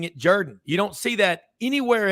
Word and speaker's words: Jordan: history of Auburn football you would have no idea that is pronounced Jordan yeah I mean sometimes